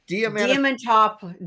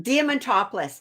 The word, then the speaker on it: Diamantopoulos: You got Christopher, and I'm going to say his name wrong. Diamantopoulos. Diamantopoulos.